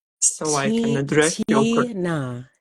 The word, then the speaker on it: Tnah: so I can addressa Tina Tina Tina I don't have an ey in my name okay okay now I